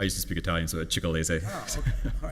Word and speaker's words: Cicalese: Well, the district court here cited, I don't know if you pronounce it right, Cicalese. So the district court- I used to speak Italian, so Cicalese.